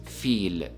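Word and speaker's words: فيل: actual word if we look at the word feel which means elephant in Arabic notice how pronounce the letter of in this world it is renounced as fi so it is feel feel now this fact is listen up and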